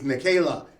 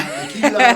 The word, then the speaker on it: Nachela: Like, my name is Nachela. It's not Nachela.